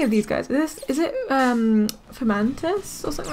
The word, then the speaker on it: Fomantis: Is it Fomantis or something like that? I can't remember how to say it. Fomantis.